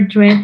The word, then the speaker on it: dressed: So you don't pronounce the E, and this is pronounced like T.